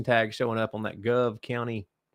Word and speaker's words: Gove: forgot like four times it's go County Gove County Gove County Gove like a okay go County I'm struggling like glove but take the L out of it gotcha I'm better